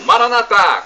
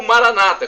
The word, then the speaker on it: Maranatha: o aramaico eu gamo Maranatha como dizemos nós católicos ou Maranata como dizem nossos irmãos separados os evangélicos ou protestantes Então essa pronúncia não importa somos todos irmãos e